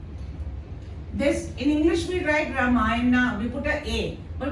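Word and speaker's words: राम: because it is a holy book it is ramay but when we write we write like this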